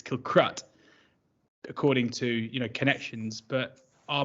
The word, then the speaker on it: Kilcruit: I mean, anyone that can pronounce Kilcruit as Kilcrut, it just makes no sense.